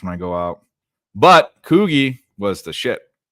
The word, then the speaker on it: Coogi: I go out but koui was the I think that's how you say it right Coogi koui that's how I've always said it yep might have